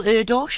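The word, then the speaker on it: Erdős: um others can't you quote is it Paul Eros is that how you pronounce it yes Hungarian mathematician who has said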